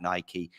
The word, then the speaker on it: Nike: also because I believe the correct pronunciation of what I believe as a Greek god is in fact Nike and so I'm fine